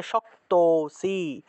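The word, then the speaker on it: शक्तोऽसि: তাহলে অথয়েতদপ্য শক্তোসি, শক্ত, এখানে দেখো একটা লুপ্ত আছে। লুপ্ত অ থাকলে আগের অংশটাকে একটু টান দিয়ে উচ্চারণ করতে হয়, আগের স্বরটাকে একটু টান দিয়ে উচ্চারণ করব। তাহলে শক্তোসি, শক্তোসি।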